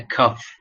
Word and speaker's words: cough: a right way so the first one was coughing okay this is pronounced as a cuff while the second one